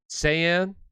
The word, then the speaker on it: Saiyan: over get your questions answered all right super saiyan that's how you say it saiyan okay all right um and if you want